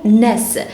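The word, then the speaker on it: -ness: وصلنا النهارده مع بعض ل سافكس اسمه ناس NESS، فصنطح هيكون ناس بتتنطق كده.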